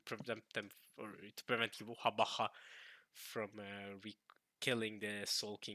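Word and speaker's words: Yhwach: In Japanese, they pronounce his name Yuhabaha in the anime.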